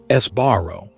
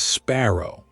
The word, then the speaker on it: Sbarro: Esbarro, often mispronounced as sparrow, used to dominate mall food courts.